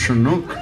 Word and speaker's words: chinook: first nation chief and he goes it's actually pronounced chinook it's actually an inuit term for snow eater